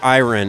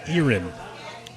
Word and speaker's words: Iran: name um um IR I decided iron it's basically spelled Iran as we might say it but in the in the audio book they called her irin erinin all right sure